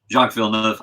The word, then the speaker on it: Jacques Villeneuve: That was Jacques Villeneuve. Villeneuve. Tell me how to pronounce it. Jacques Villeneuve.